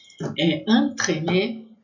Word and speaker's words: entremets: Entremets, vai ter som de A, entremets. Entremets, com S no final, vai ser plural e a gente não vai pronunciar, mesmo assim, mesmo sendo pronuncial, vai ser a mesma pronúncia.